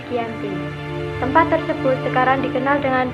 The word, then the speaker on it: Giyanti: Februari 1155 nama Dianti diambil dari lokasi penandatangan perjanjian yaitu di desa Janti dalam pelafalan Belanda disebut sebagai anti dan secara tertulis Giyanti tempat tersebut sekarang dikenal